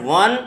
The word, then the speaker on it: one: 1, इट is starts, the word one is pronounced with a consonant sound w, that's why it is followed by article a, not n।